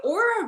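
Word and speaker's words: Oura: know okay so the aura ring has come a really long way uh it's spelled o-u-r-a the aura ring they're actually made out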